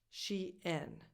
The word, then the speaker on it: SHEIN: number four she in she n the first vowel she is a tense e and then n has a LAX she n this is a Chinese brand but the original name was she inside so again this is clearly an English name so the pronunciation is she in number five Stone Island